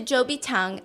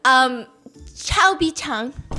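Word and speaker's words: 周笔畅: Zhou Bichang and says, Chao Bichang. What? How do you say ugly? 丑比唱. Yeah, she goes, so Cho Bichang, tell me about what your dream is. So Cho apparently in Mandarin means ugly.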